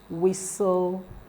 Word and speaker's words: whistle: This depot, father, satchel, whistle, and worth. So the answer is what? Satchel. Whistle, the T is silent, and in the word